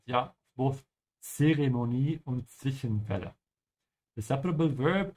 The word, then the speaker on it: Zeremonie: Ja, ohne Zwischenfälle, make sure to pronounce that T of the Z. Ja, both Zeremonie und Zwischenfälle.